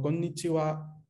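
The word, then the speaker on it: こんにちは: También se pronuncia wa en algunos saludos históricos, como konnichiwa, konbanwa. Son saludos que vienen desde la antigüedad, entonces se quedó así. Pero se escriben con la sílaba ja.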